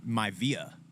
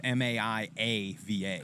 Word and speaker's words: Maiava: There's no not. official pronunciation. I mean, it's not. The I is before the. It's Maiava.